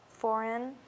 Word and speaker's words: foreign: this case now here's a silent letter here okay it's going to be a g and then what's the last sound we hear okay what word is that foreign can you spell it